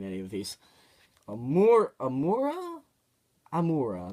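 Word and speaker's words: Amaura: of these more immoral I'm aura that's how it's name pronounced I do she's the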